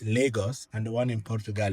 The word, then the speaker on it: Lagos: But the one in Nigeria is pronounced Lagos. It's the same, the exact same spelling, but in Nigeria, the one in Nigeria is pronounced Lagos and the one in Portugal is pronounced Lagos,